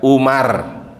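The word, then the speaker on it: عمر: Kalau belakangnya wawu berarti Amru. Kalau nggak ada wawu di belakangnya berarti Umar. Paham ya Pak ya? Ini kalau ditulis di papan tulis itu Pak, kalau tidak ada wawu berarti bacanya Umar. Kalau ada wawu di belakangnya Amru, karena ada sahabat namanya Amru bin As.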